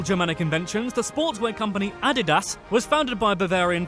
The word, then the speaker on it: Adidas: At least we say it correctly in England, but yeah. It looks like Adidas, though. It doesn't look like Adidas. There's no E in it.